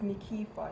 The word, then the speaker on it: Nykefah: my name or know how to pronounce it is it is it is nikifa nikifa nerd and welcome